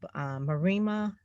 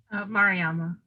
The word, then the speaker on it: Mariama: Marima? Mariama. Mariama. Okay. So I wasn't sure of the accent on the A, Mariama.